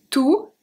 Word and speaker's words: tout: So the masculine are pronounced exactly the same. We have tout and tout.